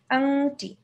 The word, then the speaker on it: আংটি: বলো আংটি হ্যাঁ আংটি মাঝখানে যখন অনুসারটা দিয়ে দিবা তখন এটার প্রোনাউন্সিয়েশনটা হবে কি একটা এ একটা এনজি আছে আংটি হ্যাঁ সিং আংটি আংটি